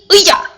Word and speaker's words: 의자: I know a lot of Korean learners are struggling with the pronunciation. 의자, which means chair in Korean. But you just gotta say it faster. Like 의자. Okay?